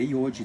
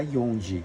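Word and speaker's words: 四時: Aqui é iodi, tá? Não vamos falar ionji, que tá errado, é iodi.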